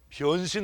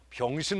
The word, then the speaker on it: 변신: 변신 로봇이에요. 발음을 잘해야 돼요. 병신 로봇가 아니고 그건 팔 떨어진 로봇이고 그건 우리가 어렸을 때 갖고 놀았던 거야.